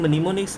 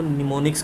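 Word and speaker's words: mnemonics: Assembly language में हमारे पास कुछ इंग्लिश वर्ड्स होते हैं जिसको लिखने में मनीमोनिक्स पर प्रोनाउंसिएशन में हम इसको निमोनिक्स का नाम देते हैं, ठीक है।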